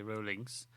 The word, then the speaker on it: Rowling: Rowling's. That's how you pronounce it, Rowling, not Rowling.